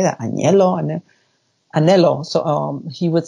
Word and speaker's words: anhelo: would use a lot is anhelo, which is it's spelled A-N-H-E-L-O. And at first I was like, how do you say that? Anhelo? Anhelo.